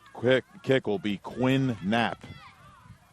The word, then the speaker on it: Knapp: kick will be Quinn Knapp silent K on the front coming up on 35